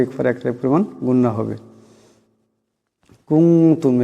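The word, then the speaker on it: كُنتُم: কুনতুম, এখানে নুন সাকিনের পরে তা আসছে, তা ইকফার হরফ, এখানেও ইকফার একালে পরিমাণ গুন্না হবে। কুনতুম এমন করে।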